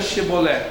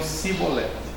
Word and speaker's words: chibolete: Então diga Chebolé. E eles não conseguiam pronunciar Chebolé. Eles diziam cibolet.